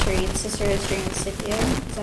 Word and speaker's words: Scipio: read Cicero's Dream of Scipio. Is that how you pronounce it? Mm-hmm. Scipio. Scipio. Hard C's. The Romans pronounce their C's hard, so it's Marcia.